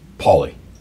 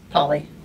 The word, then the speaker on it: Pauley: And the last name is pronounced Pauley. Pauley. Cool. Yeah, like the name Pauley.